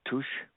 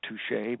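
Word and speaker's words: tusche: greasy ink it's called touch it's french french pronunciation not touche but crayons pencils lacquer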